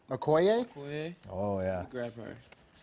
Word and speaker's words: Okoye: Okoye? Okoye, Okoye?